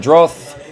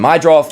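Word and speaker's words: Meidroth: You got Madroth. I can never say his name. Mydroth.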